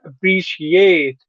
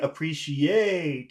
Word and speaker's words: appreciate: The team didn't appreciate. Okay, now you're saying appreciate. You're putting all the sound on eight, but it's not an Yeah. Appreciate. it's on Appreciate.